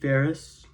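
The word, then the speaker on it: Farris: But then there's the four guys, which includes Richard Page, Pat Mestelotto, Steve Ferris, that rhymes with Harris, Steve George, Steve Ferris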